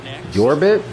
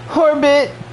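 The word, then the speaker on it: Jorbit: Yorbit? The J is silent. Jorge! Orbit!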